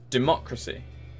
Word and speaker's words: democracy: Democracy, second syllable.